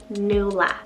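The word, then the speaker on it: Nuala: side i have the name nula spell n-u-a-l-a new laugh this name means fair and in irish legend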